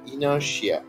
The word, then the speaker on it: inertia: এই উচ্চারণটি হবে ইনার্শিয়া, INERTIA, ইনার্শিয়া, ইনার্শিয়া।